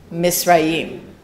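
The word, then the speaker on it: Mitzrayim: So how do you say Egypt in Hebrew? Misraim. There you go.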